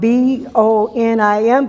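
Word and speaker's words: בונים: This Yeshua is the stone, the Aben, that was rejected by you, the Bonim, which is spelled B-O-N-I-M, but it's pronounced Bonim, the builders, which became the Rosh Pana, which is the head cornerstone, the chief cornerstone, if you like another example.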